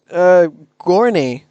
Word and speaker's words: Gorney: a time of 17.067, is Gorney. Yep. That is how it's pronounced.